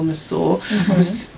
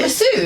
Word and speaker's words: masseur: massage at a male masseur. Is that how you say it? Masseur. Why did he say Is it masseuse? That is masseur.